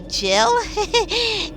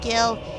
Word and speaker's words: Gil: Final Fantasy 7 um I used to pronounce um the currency in final FY Gil to Jill I oh didn't know that it was pronounced Gil when until um this